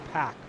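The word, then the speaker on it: Pak: is now in fourth I keep calling him Kenneth pek it's Kenneth pack p a k Nathan come on don't butcher the guy's last name it's only four letters Bren and meth MAA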